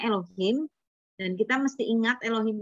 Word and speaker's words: Elohim: Allah itu di sananya bacanya Elohim.